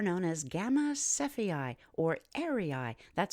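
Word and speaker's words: Errai: is a star known as Gamma cephei or airii that's spelled e-r-r-a-i and it points generally northward oh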